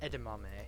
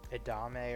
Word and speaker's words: edamame: Edamame. I used to say, I always mispronounce it. I think I'm pronouncing it properly now, but I used to say like edame or something like that.